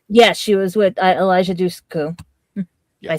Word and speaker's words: Dushku: Yes, she was with Elijah Dushku. Yes. I say it right. Yep. I think you Close got it right. Elijah Dushku, better known for Buffy and Angel.